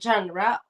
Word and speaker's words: genre: this word correctly because in my language it's genre in Ru it's Sher but in English it's genre okay because I wanted